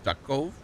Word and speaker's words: Duckov: Escape from Duckov? Duckov? How do you say that, Trent? Duckov? Yeah. Like Tarkov, but instead of tar.